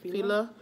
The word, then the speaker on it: Fila: Yeah, Fila.